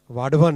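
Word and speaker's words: वाढवण: इसको वदावन मत बोलिएगा ना, वाडवन है इसका करेक्ट नेम। महाराष्ट्र में काम कर रहा हूँ ना तो मुझे करेक्ट प्रोनाउंसिएशन इसका मिला वहाँ, वाडवन पोर्ट।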